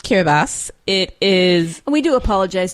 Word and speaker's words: Kiribati: looking this up because in my head it was always care about everybody Kiera buddy that's what it looks like because we're taught to sound things out but the place is pronounced care of us it is we do